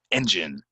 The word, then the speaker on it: engine: of silent silent guard engine engine it goes on the stress here engine engine wheel wheel is